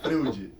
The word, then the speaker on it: Freud: dos primeiros que botou no seu gente Freud se escreve f r e u d e não f r o i d Freud é Freud não Freud exatamente só para ficar